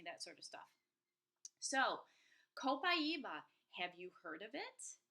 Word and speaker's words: copaiba: number two and i'm going to talk about copaiba that's how you pronounce it co pi e ba I've heard all sorts of variations it's kind of cute so coppa ebah so I do have to say up front